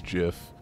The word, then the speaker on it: GIF: oh but jonas in that case and it's jiff in that gif yeah boom you will be doing it wrong new question yeah everything it is jiff uh what puts the princess to sleep in